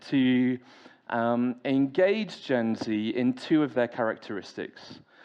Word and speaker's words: Gen Z: Uh, I'm going to call it Gen Z because if you speak to anybody who falls into the category of Gen Z, that's how they'll pronounce it, not Gen Zed.